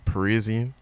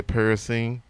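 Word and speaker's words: Parisienne: C again it's a everybody pronounced it different it's a Parisian or some people say parasene but it's ideally the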